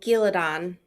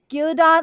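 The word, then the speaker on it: Ghealdan: saw the battle in oh giladon giladot like or gelden I guess how they say it in the show however you want to pronounce it like he kind of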